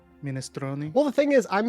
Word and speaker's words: minestrone: Or the how would you mispronounce minestrone? Mindstrom. Mindstrom. Oh no, that gave me psychic damage. I hated it. Minestrone.